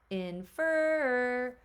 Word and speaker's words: infer: let's call it home infer so I am my stress is on that second syllable I'm going to need